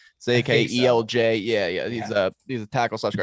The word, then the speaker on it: Zakelj: Nick Zakelj, is that how you pronounce his last name? Zakelj.